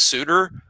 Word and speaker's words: Suter: But no, I think it's Max Suter and he pronounced it like Bruce Suter, former Brave reliever.